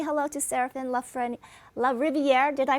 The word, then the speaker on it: Serafin LaRiviere: But I want to say hello to Serafin LaRiviere. Did I pronounce it right, Serafin?